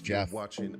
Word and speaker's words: Geoff: I never understood Jeff when it's spelled Geoff. I always thought of it in my head as Geoff whenever I would read it, and then I saw it said as Jeff.